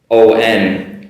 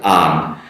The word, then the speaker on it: on: As an American, O-N, I pronounce as on, not on.